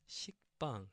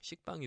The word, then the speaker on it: 식빵: And so the double consonant 비읍, so b, a, ba, and then the circle ing, so the ng sound, so it's like maybe like bang, yeah, ba, not ba, but bang. Okay, so it's 식빵. 식빵 is actually bread in Korean.